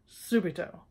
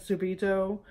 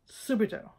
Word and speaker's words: subito: hard time remembering it it rhymes with stupid oh all right subito all right well I'm